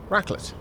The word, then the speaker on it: raclette: twitch what what's wrong it's pronounced raclette it's it's uh type of swiss fondue oh that's probably that's